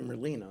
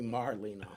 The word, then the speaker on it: Merino: His name's Joey Merino, not Joey Marino.